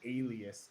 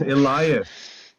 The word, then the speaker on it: Elias: Holy fuck, his name is Jackson Alias. Oh my god. Elias. It's Elias. Yeah, If it's spelled with an E, it's Elias.